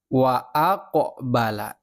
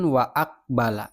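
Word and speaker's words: وأقبل: pantulan seperti ada pantulan contoh huruf qof nih huruf qof qnya sukun dalam kalimat wa aqbala nah qofnya ini memantul wa aqala bukan waakbala bukan salah jadi bacanya memantul qofnya ini WA aqbala atau contoh lain khq khaqahum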